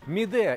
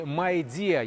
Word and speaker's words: Midea: Midea или Midea, если уж правильно произносить, но у нас именно вот первый вариант как-то прижился.